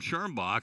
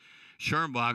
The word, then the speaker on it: Schirmbach: walking call on Tatum Schirmbach, and we get a basketball. Got excited, mispronounced her name. Schirmbach is her name, but she walked with the basketball.